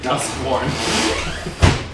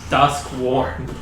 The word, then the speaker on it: Duskworn: I am Detective Duskworn. Detective. What? Duskworn. As in, like, this board is worn.